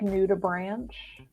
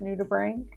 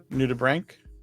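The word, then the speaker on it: nudibranch: hold on it's uh it's spelled out like new to Branch but it's new to bring new to Brink and they're they're shell-less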